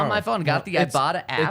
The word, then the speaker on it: Ibotta: I bought so it's IBOTTA, pronounced like I bought a blank.